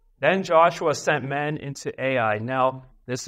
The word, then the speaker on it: Ai: Then Joshua sent men into Ai. Now, this is not artificial intelligence. This is a city in biblical times that was actually pronounced I, like the letter I.